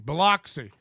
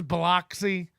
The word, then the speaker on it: Biloxi: Nobody says Biloxi. You know, not in one bit of Hurricane Katrina footage does anybody go, my home's here in Biloxi. No, it's Biloxi. So when Mersh gets back, his pronunciation of the city is now Biloxi. He's changed it. He was, before the trip, it was Biloxi.